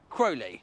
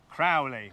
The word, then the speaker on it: Crowley: none other than Crowley hello have I pronounced your surname right no crowy but that's okay what